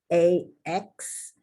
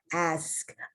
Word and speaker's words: ask: actually even with exaggeration ask a lot of people in english find this a very difficult word to pronounce because of the a then that and then the so i hope i am saying ask versus ax acts something that you